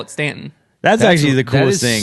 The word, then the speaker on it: Staunton: my mind because like people from the north would always call it staunton and i'm like well no we say it stanton and they're like no